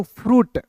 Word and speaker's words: fruit: ठीक है, UIT, तो UIT को पढ़ेंगे दोस्तों, यहां देखिए FRUIT को पढ़ेंगे दोस्तों, फ्रूट। अब देखिए यहाँ पे आई साइलेंट हो गया, ठीक ना, तो कब